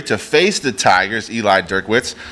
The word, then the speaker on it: Drinkwitz: Eli Drinkwitz. How do you say his last name? Drinkwitz.